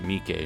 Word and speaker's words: Mike: imitations of course also this guy's name is pronounced mik not Mech like I've been saying but his name